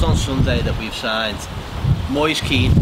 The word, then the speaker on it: Moise Kean: They announced on Sunday that we've signed Moise Keane, not Moise Khan, or anything like that. Moise Keane from Juventus for a fee of 27 minutes.